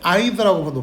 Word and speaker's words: either: 요 쌤이 지금 either라고 발음하는데 근데 가끔 가다 듣기 할 때 either라고도 발음됩니다.